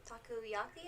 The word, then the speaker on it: takoyaki: Okay, so for the appetizer, the takoyaki is how you pronounce it.